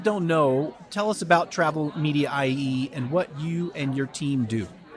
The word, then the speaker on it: TravelMedia.ie: Would that be how you pronounce it, Michael? Yep, that's it. TravelMedia.ie.